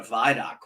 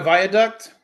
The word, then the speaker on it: viaduct: didn't know what a vidoc was because I kept saying it and people like what the hell is a vidoc you mean a Viaduct no we pronounce it Viaduct but I know what